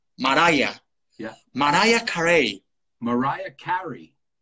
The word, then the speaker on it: Mariah: Porque, claro, que yo decía, todo el mundo decía María Carey, ¿no? Y es Mariah, Mariah.